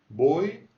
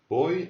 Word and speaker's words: voy: Voy a casa. Voy a casa. Si tu n'arrives pas à faire entre le V et le B, tu fais un B. Voy a casa.